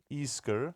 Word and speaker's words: Isker: That's the way that you pronounce it, apparently. Isker.